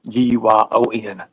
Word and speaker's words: Guyon: You said Guy and Guyon. GUYON.